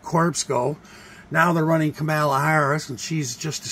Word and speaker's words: Kamala: So she goes Kamala, but in the wrestling, it's Kamala. The great Kamala.